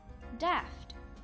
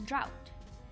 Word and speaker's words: draught: be pronouncing the word Daft daft often mispronounced as drought Daft is a current